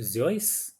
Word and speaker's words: Seuss: Seuss, who's often mispronounced as Dr. Seuss, and Roald Dahl.